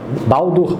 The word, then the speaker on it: Baldur: Baldur ou Balder, depende da pronúncia. Tem gente que chama de Baldur, tem gente que chama de Balder. Indifere, tá?